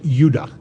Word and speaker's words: Judah: were called Benjamin and Judah more properly pronounced anounced UDA because we didn't get the harder sound to the J until about 200 years ago so this is what